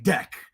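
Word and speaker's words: Dek: And then you would have explained to me, oh, no, that's what their names is, but they're pronounced deck, right?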